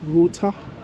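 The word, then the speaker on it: Ruter: Yeah, so when I came yesterday, I checked for an app called Router. So it's spelled R-U-T-E-R.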